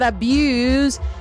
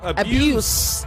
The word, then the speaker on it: abuse: I never knew that abuse, as used in the verb form, is differently pronounced from the noun form.